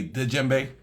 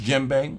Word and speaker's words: djembe: uh there's a lot of people who say d JBE because they see the D in front and